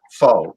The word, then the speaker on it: pho: Pho Bang. F-O or Phobang. You know, it's funny you mentioned that, because there's a Vietnamese restaurant in my county with that word in the front. Pho, P-H-O.